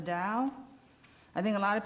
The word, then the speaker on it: Dao: see this sign and I don't know if you connect it with dosm or Tao but it's pronounced the Dao I think a lot